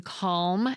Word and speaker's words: calm: Remember how I mentioned that some Americans pronounce the L in calm and palm?